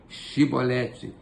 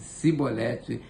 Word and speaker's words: chibolete: efraimita se respondesse que não diziam Então diga chibolete se eles dissesse sibolete sem conseguir pronunciar corretamente a palavra prendiam e matavam no